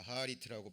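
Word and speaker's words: אחרית: 자, 하리트라고 발음이 됩니다.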